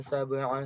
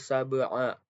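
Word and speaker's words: سبع: Selanjutnya, alladzi khalaqa sab'a. Nah, pada sab'a itu terdapat qalqalah sugro karena ada salah satu qalqalah yaitu ba sukun dan sukunnya adalah asli, maka cara baca dipantulkan dan pantulannya kecil.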